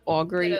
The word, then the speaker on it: augury: And I do also have Auggury. Is that how you pronounce it? Yeah. Augury.